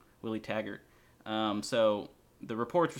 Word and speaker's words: Taggart: Willie Taggart.